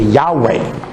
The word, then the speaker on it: Yahweh: name of God unpronouncable now we put vowels into it and say Yahweh others will put vowels into it and say Jehovah remember y h wh